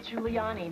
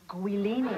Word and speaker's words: Giuliani: I shouldn't have to tell an anchor woman that it's pronounced Giuliani, not Guilini.